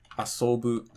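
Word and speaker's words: 遊ぶ: Either the verb is going to be Heiban, for example, like neru, warau, asobu. These are all flat.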